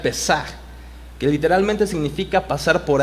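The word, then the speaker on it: פסח: La palabra Pascua viene de un término en hebreo que se puede pronunciar Pesaj, que literalmente significa pasar por alto o encima, y figuradamente preservar o incluso tener misericordia.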